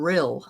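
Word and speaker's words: Rhyl: But um anyway, well that's cool to know, Garnet, because that's my grandfather was from real. I think that's how you say it.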